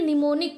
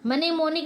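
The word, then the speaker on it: mnemonic: देखिए कनिटक्राफ्ट निमोनिक पढ़ेंगे यहां देखिए एम साइलेंट है य क्या पढ़ेंगे निमोनिक पढ़ेंगे है ना मनेमोनिक नहीं पढ़ेंगे अगला है हमारा यन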